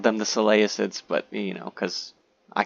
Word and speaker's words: Seleucid: And yes, I said Seleucid the right way. I always called them the Seleucids, but you know, because I can't read.